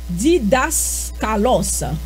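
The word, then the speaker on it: διδάσκαλος: So, nous capable de dire mot grec, le mot grec pour enseignant, pour docteur, li prononcer li relé didaskalos.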